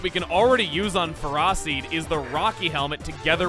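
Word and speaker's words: Ferroseed: Next up is Ferrosseed. That's how it's pronounced.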